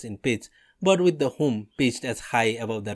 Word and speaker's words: Hum: Hum or Hung is sometimes protracted.